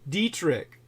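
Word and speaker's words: Detrick: weapons programs at Fort Dietrich not spelled the same as my last name I assure you uh spelled d-e-t-r-i-c-k like d d e trick like uh Trix are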